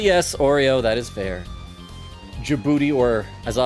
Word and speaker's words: Djibouti: stuff about the country dujibouti uh wait is that how you pronounce it Djibouti the D is silent when I was in high